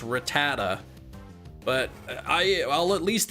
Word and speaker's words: Rattata: Yeah, I think I think a lot of people say Rayquaza like I say I say Ratata even though it's Rattata, but I I'll at least acknowledge that I'm pronouncing it incorrectly.